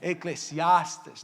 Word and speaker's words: Eclesiastes: Eclesiastes, não? Todas as palavras em português, pastor, a gente tem que pensar na sílaba tônica na cabeça. Eclesiastes. Up, down. Eclesiastes.